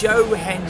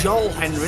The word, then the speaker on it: Joe Henry: It's Joe Henry, not Joel Henry.